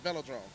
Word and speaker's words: velodrome: uh velodrome fellow drone yeah velodrome that's how you say it I am the queue